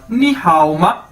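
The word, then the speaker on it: 你好吗: ये देखें, ये आगे हमारे पास नी हाओ मा, नी हाओ मा, नी हाओ मा, ये इसकी प्रोनाउंसिएशन है, यानी इसको कैसे बोलना है नी हाओ मा।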